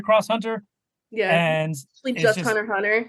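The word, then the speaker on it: Hunter × Hunter: Yeah, and just Hunter Hunter. You don't pronounce the X. Oh, I said Hunter Cross Hunter because I was educated that it's Hunter.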